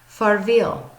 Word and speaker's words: farvel: this word which is pronounced farvel very similar to farewell far viel alright so I hope